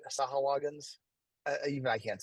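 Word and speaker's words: Sahuagin: um apparently I pronounced I always said sagin he says that the guy who actually created them said that way sah sahagin even I can't say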